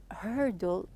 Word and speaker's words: hurdle: I told you that when you pronounce the hurdle here, the R is a bit heavy here, as we took in the pronunciation in unit 1.